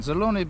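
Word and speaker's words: Zelyony: out here to um zuloni but is uh did i just say the word wrong okay i said it right then zeloni buzzer which means great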